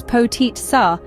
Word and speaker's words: Potica: Potica, pronounced as potit sa, has been an integral part of Slovenian cuisine for centuries.